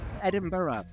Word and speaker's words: Edinburgh: Edinburgh to kind of make two syllables out of the burr at the end because the word burr in Scotland is usually pronounced as bur.